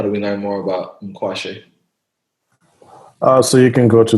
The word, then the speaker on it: Nkwashi: I know it's Eagle in English, but how do you pronounce it? Nkwashi. So it's Nkwashi. Okay. How do we learn more about Mkwashe?